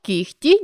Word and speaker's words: кігті: можемо це відбувається у словах де звуки уподібнюються один до одного за глухістю таких слів 5 легко вогко кігті нігті дьогтьом нам складно зрозуміти яку ж саме літеру писати у цих словах адже у вимові дзвінкий г уподібнився до глухого х тому для того аби